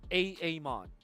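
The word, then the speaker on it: Aamon: sure you guys grab those Heroes now you're pronouncing it correctly a Amon but you like how I how I transition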